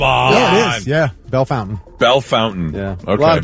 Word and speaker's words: Bellefontaine: It's pronounced Bellefontaine. Oh, come on. Yeah, it is. Yeah, Bell Fountain.